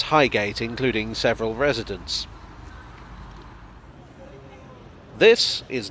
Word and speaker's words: Highgate: of the others though highgate is usually pronounced highgate however on the tube announcements it's pronounced highget and i've come across